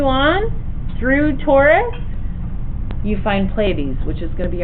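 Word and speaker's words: Pleiades: if you continue on through Taurus you find playes which is going to be our next one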